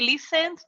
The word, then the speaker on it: listen: They listened to music. The first thing here is that we don't pronounce the T. We say listen.